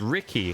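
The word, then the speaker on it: Rickey: When consulting the videos of 3 different professional bartenders, it is pronounced Ricky, like the name. The E is a garnish.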